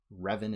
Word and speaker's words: Revan: Revan is how we pronounce his name.